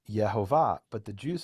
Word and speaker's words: Yehovah: And he says, well, if you pronounce the vowels the way that it's written, it would be Yehovah.